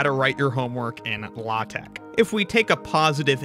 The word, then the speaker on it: LaTeX: how do you pronounce it now now it's pronounced latch or latek yes this is no longer referring to the